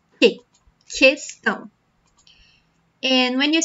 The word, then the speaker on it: questão: In Portuguese, we don't say it like that. We say like, que. So, when you have the word question in Portuguese would be questão, for example. Questão, okay? So, you don't say que, you say que, questão.